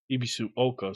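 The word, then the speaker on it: Ebisugaoka: Ibisu Oka, so you completely ignore the G.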